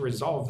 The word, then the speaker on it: resolve: We want to resolve this problem fast. As quickly as possible. Resolve. Oops. So, it's like this. R. Rolve. Put the emphasis on the second syllable, right?